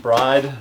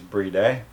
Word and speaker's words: BRIDE: this with um i guess i'll say it bride but i know that the correct way of pronouncing it is brie day which is how the japanese pronounce it but